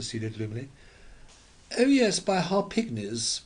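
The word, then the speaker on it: Harpignies: gloomy oh yes by har pigis with the accent on the pig it's worth three times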